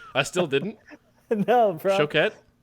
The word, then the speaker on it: Choquette: TJ Choquette, and I said it right this time. I finally You learned how to pronounce it properly after all these years.